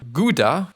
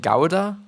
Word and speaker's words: Gouda: And apparently, the G is actually pronounced like it is just like the German CH, if you know that.